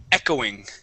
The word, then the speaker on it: echoing: Okay, so this word is echoing. Echoing. Good, with the accent at the very beginning.